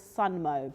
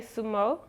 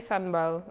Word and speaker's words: Sumo: I thought it was Sunmo, but I don't think that's the right way to say it. So we say Sumo. Sumo. Yeah. Okay, Sumo. But you could say Sunmo.